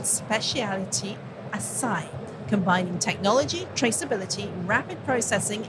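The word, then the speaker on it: açaí: Acacia. Ashai. Say it again for me, Thomas. Asai. Asai. Right. Or acacia berries. Now, Masai says it has created a new catery called specialtity. Asai.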